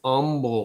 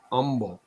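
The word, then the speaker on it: Humble: yeah it's over in Umble Texas you got to say it right Umble Umble that's the where xon began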